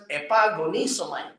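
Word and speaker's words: epagonizomai: and then agonisomite okay if you combine it becomes epagonisomite six syllable so the way to pronounce it is by tru epagonisom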